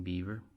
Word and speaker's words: Bieber: yates siever and mini is bieber shane beaver that's how you say it okay moving right along